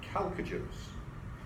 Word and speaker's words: chalcogens: The H is silent. Do not pronounce the H.